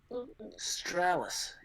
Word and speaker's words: Stralis: Stralis is Stralis because it rhymes with Gallus.